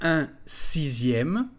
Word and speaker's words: sixième: cinquième le suivant est un sixième attention à la prononciation du mot 6e la lettre x se prononce comme un z 6e 1 6e 1